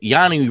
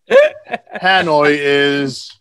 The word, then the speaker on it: Hanoi: It's Hanoi Rocks, or is it Yanoi Rocks? I used to see in magazines. I used to never be able to pronounce it. Is Hanoi.